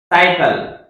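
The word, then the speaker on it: cycle: या फिर सी के बाद आई वाई हो, सी के बाद क्या हो? वाई। देख लें आप, साइकिल।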